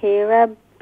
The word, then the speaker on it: رب: الحمد لله رب العالمين. را is pronounced full mouth.